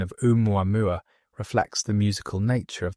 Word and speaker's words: ʻOumuamua: The name is pronounced roughly as o with emphasis on the first syllable of each mua.